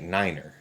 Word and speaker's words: Ninner: You spell it Ninner, but you say it Niner.